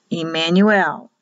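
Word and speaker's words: עמנואל: It'll be pronounced E in Hebrew. Emmanuel.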